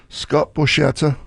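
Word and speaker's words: Scott Borchetta: Scott Borcetta.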